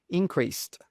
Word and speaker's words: increased: And note, when you have a word that ends in sed, we pronounce it as a st.